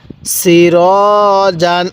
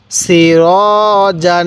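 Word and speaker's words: سِرَاجًا: আলিফ জবর র জিম আলিফ দুই জবর জান সিরাজান আমার সাথে সাথে বলবেন সিরাজান হ্যাঁ আরেকবার সিরাজান হ্যাঁ পড়ুন সিরাজান এরকম ভাবে শিখবো এরপরে সিন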